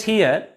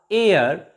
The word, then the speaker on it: heir: h is also silent here and h e i r air not here honorable not honorable pay